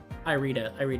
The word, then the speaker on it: Irida: Irida is how you say it.